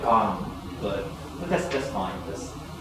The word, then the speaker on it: Kang: Well, it's Kang. Well, I mean, a lot of Americans say like Kang. Are you American? It's K. I mean, more like Khan, but that's that's fine.